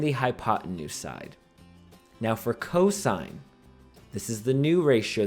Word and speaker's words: cos: is our cosine ratio we abbreviate it cos we do not pronounce that cos or cos or cuz no that right there represents cosine and it will always